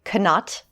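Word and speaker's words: Knott: also based on Frederick canat not I know it's I I always like to pronounce I think I think the second T is silent indeed so yeah and it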